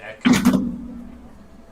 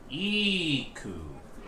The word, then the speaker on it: Iku: I usually said Echo. I do think if we want to get like really nebulous about it, I think there is a thing that has a pronunciation for every NPC. Yeah, here you go. Dramatis personae. So Iku is pronounced Iku.